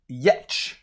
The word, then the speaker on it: Giertz: it's made by simone yetch and uh simone's name last name she's swedish is spelled g-i-e-r-t-z and for what i understand it's pronounced yet so hopefully simone i'm